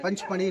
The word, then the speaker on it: पचमढ़ी: 5 यानी पंच, मड़ी यानी गुफाएं। पंचमढ़ी नाम मिला है उन गुफाओं से, लेकिन ब्रिटिशर्स का प्रोनाउंसिएशन इतना अच्छा नहीं था कि वो पंचमढ़ी डिलीवर करे, शॉर्ट फॉर्म में वो पचमढ़ी हो गया।